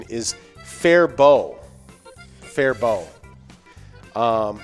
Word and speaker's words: Faribault: is silent apparently it's fair bow which makes sense because it's french canadian so french the t at the end usually is silent gotcha because apparently the